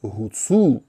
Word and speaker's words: гуцул: в собі фрикативну Г Де де ми маємо право залишити фрикативну г і це буде перш за все це буде славнозвісне українське слово Гуцул Бо як я розповідав